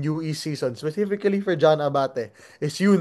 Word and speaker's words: Abate: Abate has gotten a lot. This season has gotten a lot. He pronounces it Abate now, right?